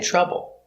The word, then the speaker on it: trouble: TR is pronounced with the ch sound like chicken.